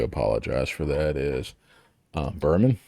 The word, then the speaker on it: Buhram: for that is uh berman is that correct yep rhymes with german there you go and